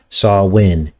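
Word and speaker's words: Samhain: celtic pagan festival of sawin which is actually spelled s-a-m-h-a-i-n but it's pronounced sawwin and this fifth of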